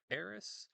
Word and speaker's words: Aerith: Aerith or Aerith? It's Aerith. I don't know where people have gotten Aerith from. It makes no sense to me. It's always been Aerith.